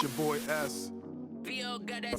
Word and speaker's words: Esz: Pronounce it like the letter, don't say it at all.